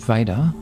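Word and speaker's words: Veda: mentioned before the word vader v-e-d-a means knowledge and it's pronounced in exactly the same way as v-a-d-e-r the name of the character and as i mentioned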